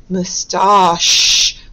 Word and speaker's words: moustache: Moustache. Remember, again, it sounds like shh, which you think should be spelled sh, but remember, today we are looking at the spelling ch for the shh sound.